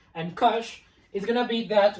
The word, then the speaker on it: cosh: uh what about cosine hyperbolic cosine which is pronounced Kush because you write it as it sounds cosine